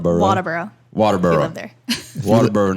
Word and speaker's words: Walterboro: A Walterboro native. How do you say it? Walterboro. Walterboro now, but Waterboro.